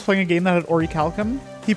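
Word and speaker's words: orichalcum: a game that had Orie Calcom he pronounced it as a Orum what is an Orie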